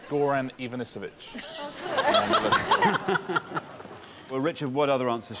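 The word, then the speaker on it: Goran Ivanović: mysterious case of Ian Ian gorovich you got you did get all the right syllables just not necessarily in the right order uh he's called Goran Ivanovich well Richard what other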